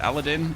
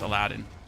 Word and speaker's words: Aladdin: In in German it's Aladdin. In in English it's Aladdin. I had to learn that the hard way.